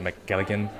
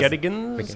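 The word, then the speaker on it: McGettigan's: And when I saw you guys a few nights ago at McGilligan, I think that's how you pronounce it, the Irish bars. McGettigans, I think, yeah.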